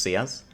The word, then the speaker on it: Seaz: the support for big am i actually pronouncing your name correctly by the way is it just cs yes it is yeah it's more time